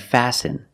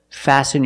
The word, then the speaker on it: fasten: listen and fasten example fasten your seat belt fasten is a verb and the t is silent you need to fasten